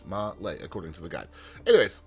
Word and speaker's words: Malé: I've looked up a pronunciation guide. That's how they say it. If it's wrong, I'm sorry. It's Malé, according to the guide.